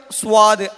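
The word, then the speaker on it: صاد: നമ്മൾ മലയാളത്തിൽ പറയുന്ന സ്വാദ് അതല്ല യഥാർത്ഥത്തിൽ സ്വാദിൻ്റെ ഉച്ചാരണം.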